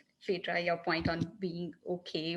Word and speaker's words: Phaedra: - Thanks Luke, Jeff, Phaedra, am I pronouncing your name, correct?